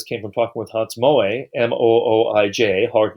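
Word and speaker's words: Mooij: introduction from this came from talking with hans moay m-o-o-i-j hard name to pronounce a very distinguished professor of uh of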